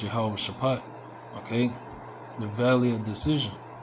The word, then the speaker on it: Jehoshaphat: of uh Yahawash Shapat, but in the scriptures it says Jehoshaphat. All right. But the proper way to say it is Yahawah Shapat.